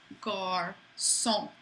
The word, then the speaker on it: garçon: The hard sound of a C would be a K, but when you see the accent cédille, that's telling you, no, pronounce this like an S. So for example, the word for boy, garçon, makes it soft.